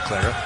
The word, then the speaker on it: Clara: spelled c l a r a, like Santa Clara, but they're both pronounced Clara.